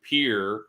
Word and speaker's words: Pierre: the 10th I can go to Pier even though it's spelled Pierre Pierre South Dakota to